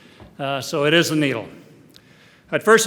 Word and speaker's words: NEIDL: Laboratories at Boston University also known as the needle although those of you who speak German will know that it should be pronounced nidle but that's not the pronunciation that we use uh so it is a needle I'd first like to introduce uh Boston University's